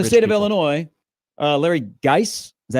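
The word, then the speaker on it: Larry Gies: Illinois, Larry Geis, is that how you pronounce his name?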